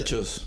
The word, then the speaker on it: Caprichos: 'Cause- Caprichos. Caprichos. caprichos. Yes. Yeah, I can't roll my R's.